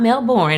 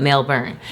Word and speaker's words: Melbourne: Not Melbourne as we pronounce it here in America, but Melbourne.